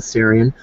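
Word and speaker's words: Tsarion: of michael um sarian i think you pronounce his name as t-s-a-r-i-o-n michael syrian um november 23rd 2014.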